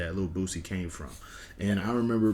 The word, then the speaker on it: Boosie: underside a lot and little boosie rhymes with that and nowadays people are